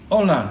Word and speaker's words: hola: Pero no se pronuncia. Por eso dices, hola, señor. Okay. Hola, señor. Uh-huh, uh-huh. So it's silent.